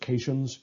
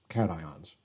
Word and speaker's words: cations: ions are called cations this looks like it should be pronounced occations its cations a prime example is sodium